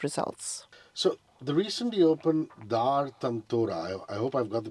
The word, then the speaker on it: Dar Tantora: One, as you rightly pronounced, Dar Tantora in Old Town, which is one of our heritage sites.